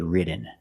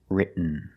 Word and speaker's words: written: other example written written so you can say written or written written is more common just don't say written it's written let's look at some